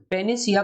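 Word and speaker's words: panacea: पेनिसिया का मतलब क्या है? ये शब्द बना है पेन से। आप देखिए, थोड़ा सा आपको इसका जो प्रोनाउंसिएशन है वो पेनिसिया में पेन शब्द आपको सुनाई दे रहा होगा।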